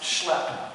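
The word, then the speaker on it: SLEP: i think means that the acronym is pronounced schlep i don't think something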